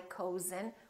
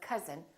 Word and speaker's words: cousin: But also, sometimes this sound is spelled with OU, as in words like cousin, my cousin. We don't say my cousin, we say my cousin, or country.